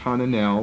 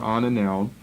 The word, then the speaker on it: Ananel: Notice all the lines drawn here, they spell it with an A, beginning it with an A. Perhaps it should be begun with an H, Hananel or Ananel.